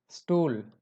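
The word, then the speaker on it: Stuhl: अगर एस के बाद में कॉन्सोनेंट होता है, कोई भी कॉन्सोनेंट हो सकता है, कॉन्सोनेंट होगा तो उस एस का प्रोनाउंसिएशन सिंपली एस ही रहेगा. For example स्टूल, स्टूल means chair, स्टूल.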